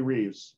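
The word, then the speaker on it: Reves: Yeah, Anatomy of Peace, by Emery Reeves, or Revish is I guess how it's pronounced.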